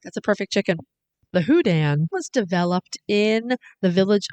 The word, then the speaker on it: Houdan: go wrong perfect that's a perfect chicken the hudan was developed in the village of hudan well of course in normandy france actually it's correctly pronounced udan lots of sources say that the hudan is